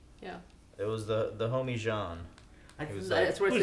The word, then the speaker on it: Jean: It's Jean, but it's Jean. They showed him. But I mean, it's pronounced Jean, like he's French.